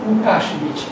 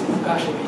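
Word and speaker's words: Łukasiewicz: It is written something like but the pronunciation is Ukashevich. Ukashevich. A friend of mine, Polish, told me that the correct pronunciation is Ukashevich. Ukashevich.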